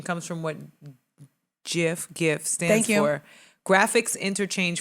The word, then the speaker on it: GIF: behind here we go pronunciation comes from what jif gifts thank you graphics interchange format in his acceptance speech he declared his his own invention once and for all the correct way to pronounce it is jeff like jiffy luke why didn't he put himself